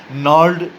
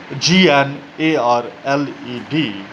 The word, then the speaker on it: gnarled: And as I told you in the few last classes, that their fathers have been suffering from gnarled disease, GNARLED, and G is silent here.